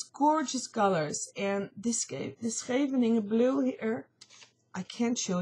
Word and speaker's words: Scheveningen: I don't know how you pronounce that in English, but Dutch is Scheveningen.